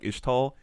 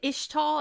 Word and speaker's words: Ixtal: from everybody, Is it Ishtal? I always say Ixtal. I always say the X. I feel like it's probably Ishtal. Okay, just I'm based, sorry. Just based on like how their town name is pronounced too, with like the Ishao Khan.